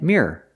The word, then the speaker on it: mirror: you clean it so we compared these two words Mir one syllable and mirror two syllables what is the first